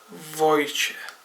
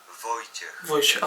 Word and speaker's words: Wojciech: Sharon, Jay, and Wojciech, how the fuck do you pronounce his name? Wojciech. Wojciech, okay, I got it.